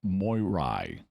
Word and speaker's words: Moirai: mythology and so are the more the moirai as you would more properly pronounce it the moirai are